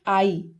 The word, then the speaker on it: eye: जैसे हो गया आई, EYE, आई, EYE, आई means आग। यहाँ पर ई का उच्चारण आ की ध्वनि में है।